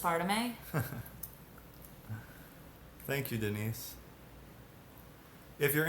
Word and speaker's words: aspartame: It's pronounced aspartame.